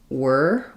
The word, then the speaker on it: were: So here we have the same e r e spelling in the word where it's the air diphthong and in the word were it's just a plain er sound. So thinking about this one as were or it's the same as this word were like the rotors were whirring. And this one as I would think about it like where think about that air diphthong.